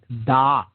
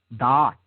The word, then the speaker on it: Da'at: It is positioned in what is called the realm of Da'at. Da'at. Okay? D-A-A-T or D-A-A-T-H. Okay? Depending on how, different schools of Kabbalah spell it.